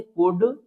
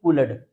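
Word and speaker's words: could: तो इन्हें याद रखना है आपको कि इसमें एन लेटर साइलेंट रहता है तीनों में। तो इसको हम क्या रीड करेंगे? कुड ना कि कुलड।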